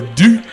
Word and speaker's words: Dutt: The Monster Abyss has signed with WWE alongside Sanjay Dutt. That's some big news right there, man. It is. And Sanjay Dutt, or Doot, as some people really pronounce it, they're saying that he might be like the HNIC to the India.